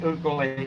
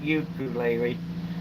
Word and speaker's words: ukulele: And yes, it is pronounced ukulele, not ukulele.